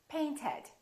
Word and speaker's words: painted: Paint ends with a T. Therefore, the past tense is painted.